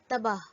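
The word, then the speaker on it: تباہ: In this case, Gol Hai retains its intrinsic Ha sound. For example, Te, Be, Alif, Gol Hai, Tabah, ruined.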